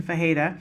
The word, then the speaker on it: Ferreira: like it's spelled but it's that's the correct pronunciation fajita she is the CEO of skills global so